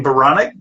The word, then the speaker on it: Baranek: and so I thought Baronic, my last name, Baronic, that rhymes with Bionic.